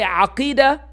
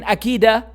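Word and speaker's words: عقيدة: If you cannot say aqidah, don't speak. Don't come around saying akida.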